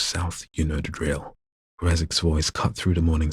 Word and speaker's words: Graczek: Captain Grazek, I'm going to pronounce it like Grazek. It's spelled Graczek.